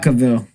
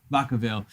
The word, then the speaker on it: Vacaville: Vacaville. Vacaville.